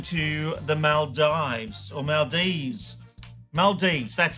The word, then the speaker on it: Maldives: Maldives, that's how you say it, yes.